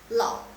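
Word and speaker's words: 老: Lao, le, ao, lao ditambah dengan nada ketiga lao.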